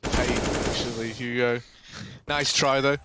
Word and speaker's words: paiN: No, it's pronounced paiN, actually, Hugo.